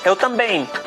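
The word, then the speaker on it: também: pronunciación Me dijo Mira cuando veas en portugués la final la terminación Ben b e m es como en español como si hubiera una e una i una n se pronuncia ein Entonces cuando veas tambén que quiere decir también en español dices tamb entonces para decir yo también en portugués se dice tambin y así lo pronuncias y Hay muchísimas palabras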